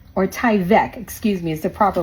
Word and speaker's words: Tyvek: No need for Tyvek, or Tyvek, excuse me, is the proper way to say it.